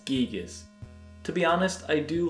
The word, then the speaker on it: Giygas: Despite an unofficial advertisement calling him “GUY-GUS/GAS”, Marcus and his staff always pronounced their localized name as “GEEG-US”.